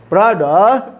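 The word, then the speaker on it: brother: ये द में चूंकि जुबान बिगड़ी है तो द जब बोलना होगा तो कहाँ चली जाएगी? दांत के पास, जबकि हमको भेजना कहाँ है? मसूड़े के पास, तो सही प्रोनाउंसिएशन आएगा ब्रदर, ब्रदर, ब्रदर।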